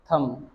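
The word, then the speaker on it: thumb: Shem, थम, थ बनाना है और एम बनाना है, थम, ठीक है। और बी है जो साइलेंट रहेगा, थम बोलते हैं।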